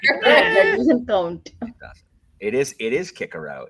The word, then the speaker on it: Cicero: It is Kikero, but no one says it. And I'm also going to say Cicero. I'm not going to do that either. Cicero. Yeah. Yeah, there's no soft C in Latin.